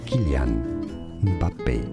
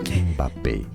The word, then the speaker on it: Kylian Mbappé: In French in France it's said as Kylian Mbappé, Mbappé, Kylian Mbappé.